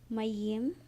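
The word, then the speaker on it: מים: Mayim, Mayim. I'm, That would be Yep. The ain is silent, so we just have the M, Aim.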